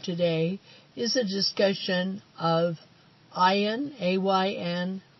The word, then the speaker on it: Ayn: is a discussion of ayan a YN r and r a nd you may hear her name mispronounced as and Rand are on round so beware of that